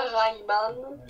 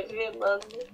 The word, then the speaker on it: Rayman: Deus Ex, ou alors d'autres franchises que vous connaissez sûrement, du style Rayman, qui ne se prononce pas Rayman, mais Rayman, Ah, il faut pas y croire non plus.